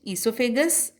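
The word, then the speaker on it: oesophagus: Esophagus spelling starts with O, but we have to pronounce it esophagus as O is silent.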